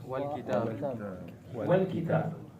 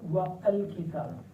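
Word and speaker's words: والكتاب: Wal kitab. Wa il kitab. Wal kitab. You don't say wa al kitab. And the book. No. Wal kitab.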